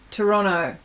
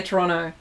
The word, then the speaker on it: Toronto: Yes, Chrissy, we don't pronounce the last T, see? Toronto, you say Toronto.